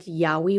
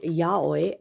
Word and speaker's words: yaoi: I always used to say Yaoi because I never listened to anyone actually pronounce that word. But it's apparently Yaoi, and I said it wrong for many, many years.